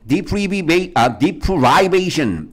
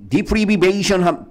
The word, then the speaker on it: deprivation: warm water, 따뜻한 물인데 sensory deprivation. 야, 우리 deprive라는 동사 있어. deprivation이라고 발음해도 되고 deprivation이라고 발음해도 되고 deprive라는 동사 박탈하다, 빼앗다야. 그죠? 그럼 sensory deprivation 탱크니까 뭐야?